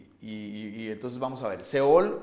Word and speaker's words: Sheol: Y entonces vamos a ver, Seol o el Hades, en el hebreo se pronuncia Sheol, y la definición es lugar para los muertos.